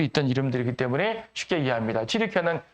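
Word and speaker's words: 튀르키예: 튀르키아는 과거엔 터키라고 불렸는데 지금 튀르키아라고 이제 본래 저 사람들의 발음을 통해 쓰는 것이고, 이 튀르키아 지역과 그리스 지역이 신약 시대의 주요 무대가 됩니다.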